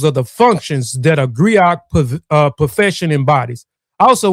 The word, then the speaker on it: griot: A griat or griotei or jali jali professional encompass many roles. Agree. I pronounce Grio has been referred to as a historian, a